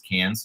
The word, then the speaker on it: Cairns: in c-a-c-a-i-r-n-s this is i thought but i guess it's cans when they say it yeah so we say it wrong so i'm sorry beverly's